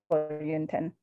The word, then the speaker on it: Yönten: Yönten? Yönten, yep. So Yun like rhymes with moon, 10 like the number 10.